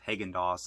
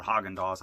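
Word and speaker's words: Häagen-Dazs: ice cream and they had a lot of hagen dos i guess uh or haagen-dazs as it's pronounced used in this film it's so cheesy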